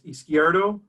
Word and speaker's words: Izquierdo: Chad even said how to say it his squared oh did I do it right Tom that's close enough and it's izquierdo it's joe nice navidad I've heard of all